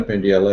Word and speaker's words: Pendyala: before that um uh my name is pendella as Jim probably one of the few people who pronounced my name correctly L thank you Jim